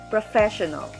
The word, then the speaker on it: professional: the first syllable literature next word professional pro first syllable fair second syllable show third syllable null fourth syllable the stress is in the second syllable professional last four syllabic word